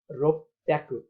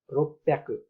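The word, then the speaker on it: 六百: अब उच्चारणमा चाहिँ रोप्याकु, अघि चाहिँ ब्याकु, साम ब्याकुमा चाहिँ ब्याकु भएको थियो भने अब रोकुमा चाहिँ रोप्याकु, रोप्याकु यसरी उच्चारण गरिन्छ।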